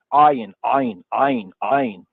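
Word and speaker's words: עין: It's a hard A sound. The soft A is Aleph. The hard A is Ayin. Some say that it's actually I, like I or EYE. How about AYE? Notice that A and Y is a diphthong. You know about diphthong? 2 sounds that come together to produce another sound.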